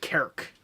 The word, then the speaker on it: Cork: It's spelled Cork, but I think they pronounce it Kerk. But the Irish are weird. Kark, yeah, it's Kark. probably pronounced with an A sound.